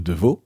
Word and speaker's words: Devaux: J'ai le plaisir de recevoir aujourd'hui Deveau. On le prononce bien comme ça ?